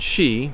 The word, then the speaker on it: Xi: more and more President Xi pronounced as it does sound although is spelled with an X and an I wants to destroy anything